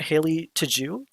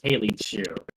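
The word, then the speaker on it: Haley Tju: days ago but uh am i saying her name right haley to jew i i pronounce it as haley chew haley bailey chew yeah because i notice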